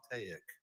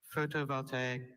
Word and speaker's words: photovoltaic: photovoltaic. Photovoltaic. Can I have all the information? Photovoltaic, also pronounced photovoltaic or photovoltaic, is an adjective.